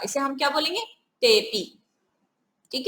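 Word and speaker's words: तेऽपि: अवग्रह का उच्चारण नहीं होता, इसे हम क्या बोलेंगे, तेपी।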